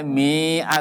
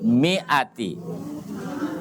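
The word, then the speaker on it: مِائَةٍ: terus huruf mim yang artinya miatin yang artinya 100 itu selalu pakai Alif tapi dibacanya tidak panjang tidak boleh Miah tetapi mie Ati ya walaupun ada alifnya ya jadi Alif itu tidak berfungsi jadi tulisannya adalah minnya panjang ya ini tidak panjang Walaupun ada alifnya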